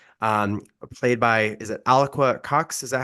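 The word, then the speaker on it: Alaqua: of multiple ways um played by is it alqua Cox is that how I pronounce the name alaka yeah alaka okay and she she also she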